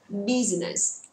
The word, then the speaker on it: business: Rất nhiều người đọc từ này sai vì lý do chúng ta sẽ không đọc ba âm rõ ràng là business mà đọc là business, đúng không ạ? Chúng ta sẽ thấy là giọng của chúng ta sẽ hơi nhấn vào cái chữ đầu tiên, đó là âm trọng âm.